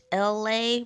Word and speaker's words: Elay: It's me, LA, pronounced like LA like the city.